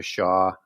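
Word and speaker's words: Xia: goes back to the Sha Dynasty that's uh the original one that's x i a as it's spelled pronounced sha and the Western bloodline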